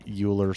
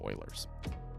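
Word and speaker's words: Euler: apply some of the uler stuff or Ellers I don't know how you say how he says his name but I think it's supposed to be pronounced Oilers um but uh like the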